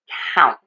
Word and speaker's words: count: The key for this is that we are going to open the mouth wide for that a. Think of opening in a wide circle for the a. We are also going to open in a wide circle and move for the vowel in the word count.